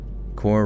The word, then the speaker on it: corps: Core rhymes with more. Oh, and corpse it's more pronounced like core rhymes with more even though it's spelled with a PS.